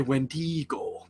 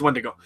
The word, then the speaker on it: Wendigo: Oh, I always say Wendigo, but it's Wendigo.